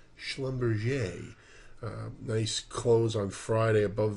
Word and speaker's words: Schlumberger: I believe the correct pronunciation is Schlumberger.